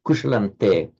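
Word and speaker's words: kuśalaṃ te: So you write kushalam anuswara te, but you pronounce kushalante because the following te.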